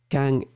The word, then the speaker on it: quand: So the main difference, as you can hear, quand. I mean, it's not, I don't make the accent because I'm so bad with that, but when I pronounce quand, he will pronounce. C'est quand il a vu ce bidonville qu'il a écrit la chanson. So you can hear the N or the ng after.